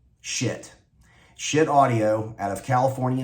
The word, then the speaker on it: Schiit: If you're not familiar with them, the name of the company, it's spelled SCHIIT, and it's pronounced like it's spelled, shit.